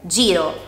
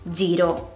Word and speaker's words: giro: Se la H non ci fosse, la G andrebbe pronunciata con un suono dolce, seguita dalle vocali E oppure I. Per esempio, gelato o giro.